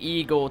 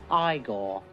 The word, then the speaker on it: Igor: A baby eagle to burn itself on the stove while older brother is cooking a stir fry. No, it's pronounced Igor.